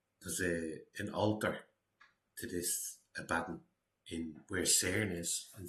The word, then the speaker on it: Abaddon: Apollyon and Abaddon, or Abaddon, but I think it's pronounced Abaddon. Not a bit weird. Abaddon, and it is a bad one.